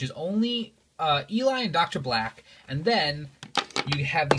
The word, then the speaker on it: Black: I would like to point out that that says Dr. Black with a B. I've had so many kids tell me that it's pronounced Vlack with a V. That's not true. That's not true at all.